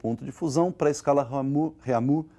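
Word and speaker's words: Réaumur: aí que é a escala reamur que nós vamos pronunciar reamur né que a portugues AD de novo né E essa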